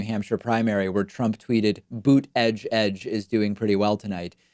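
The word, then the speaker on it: Buttigieg: Remember, early on, when people weren't sure how to pronounce Pete's last name, he said it's like the word boot followed by the word edge twice.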